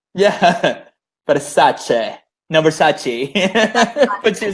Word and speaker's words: Versace: like Versace. You guys are all saying it wrong. Yeah. Versace.